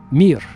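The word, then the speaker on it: мир: In Russian, it's the the word mir. M I just three letters. Mir just like the space station. Remember the Soviet space station called mir.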